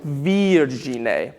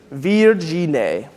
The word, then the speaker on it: virgine: So yeah, so virgine. It's a very bright E, virgine.